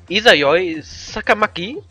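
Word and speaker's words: Izayoi Sakamaki: Isayoi Sakamaki. Ja, ist richtig ausgesprochen, gut.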